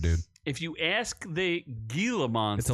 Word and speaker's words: Gila: they just kill them it's a soft G the soft G is Gila Gilla G Monster so the pet